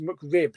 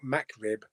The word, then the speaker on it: McRib: It's pronounced McRib, not MacRib.